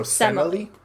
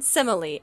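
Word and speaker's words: Semele: like it said like the first e is pronounced like the e in dress so semily okay Emily with an S at the front of it so Zeus and semily and now DJ do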